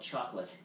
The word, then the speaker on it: Chocolat: But if you live in the USA, it's called Chocolate. That's how you pronounce it. The movie is called Chocolat. You know, Jake, Whether you speak French.